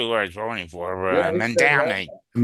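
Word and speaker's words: Mamdani: It's mom Donnie.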